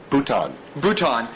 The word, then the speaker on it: Bhutan: So one of my favorite chapters was the chapter on Bhutan. Is that how you say it? Bhutan.